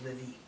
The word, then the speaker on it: LIVe: The E is silent. No, it's Livy.